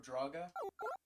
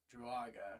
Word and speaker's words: Druaga: We have pole position to the Tower of Draga. I feel like I'm mispronouncing the name. Tower of Druaga. Druaga, excuse me.